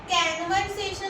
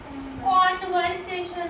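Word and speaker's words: conversation: है इसको प्रोनाउंस करो ये ए है अच्छा कैन तो यहां ओ है ना तो कैनवर्स सेशन तो नहीं होगा। कन्वर्सेशन होगा।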